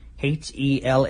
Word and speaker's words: Helluva: I think that's probably how you're supposed to pronounce it, because that's how you spell it. H-E-L-L-U-V-A. Helluva? No, helluva. Because it's a hell of a kick.